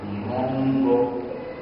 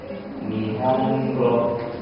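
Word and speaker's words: 日本語: So you've got to pronounce that n with the same amount of time that the other moras. So we're going to say nihongo, nihongo.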